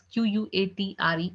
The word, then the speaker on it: quatre: Four is, being written down as Quatre, and it's being pronounced as quatre.